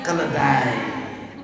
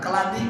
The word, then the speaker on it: keledai: Keledai. Nah, kele keledai. Jangan keladi bacanya.